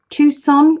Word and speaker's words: Tucson: to Tucson is it is it Tucson is that have I said that right Tucson you don't you don't pronounce the C is that Arizona I'm